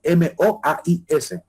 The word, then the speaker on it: moais: cantidad de moa de esculturas llamadas moais tal como se pronuncia m o a i s moais eh Y con esa